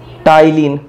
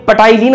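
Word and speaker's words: ptyalin: भी बोलते हैं, टाइलिन, ये पटाइलिन मत बोलना है इसको, टाइलिन ही है। और जब हिंदी में आपको लिखा हुआ दिखाई देगा तो टाइलिन ही लिखा हुआ दिखाई देगा। पी यहां पर साइलेंट है भाई, टाइलिन, हिंदी में भी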